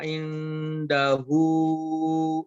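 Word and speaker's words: عنده: Man dzalladzi yashfa'u 'indahu illa bi'idznih. Oke, pada kata indahu itu dibacanya ke huruf ang. Aya, jangan ke in, jangan ke nun ya.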